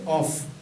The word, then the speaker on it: off: আর O double F যেটা, এটার meaning হবে হচ্ছে কি অফ, অর্থাৎ ও স্বরেও ফ।